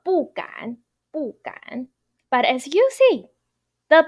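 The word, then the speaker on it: 不敢: But here, 敢 is third tone. So as long as the first, second, third, or neutral tone is right after the 不 character as a fixed phrase, then you need to pronounce your 不 character as a fourth tone 不. So 不敢.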